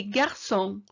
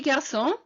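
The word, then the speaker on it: garçon: underneath the c and what that means in french is that it gives an s sound so beaujolais song okay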